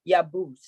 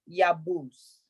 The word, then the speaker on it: yabus: Okay, so I would say ana awuz lia yabus. Not ya. The Y is soft, so the A must be soft.